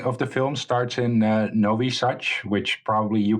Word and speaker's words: Nowy Sącz: The beginning of the film starts in Novi Sad, which probably you pronounce a lot better than I would.